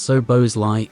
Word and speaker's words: Szoboszlai: Liverpool's purchase of Dominik Szoboszlai, pronounced So-bos-lai, is a highly intriguing acquisition.